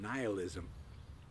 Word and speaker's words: nihilism: But in looking into it today, I was looking up the pronunciation of nihilism, and with a long I, and it's on the same page, which is basically belief in nothing, an untenable belief at best.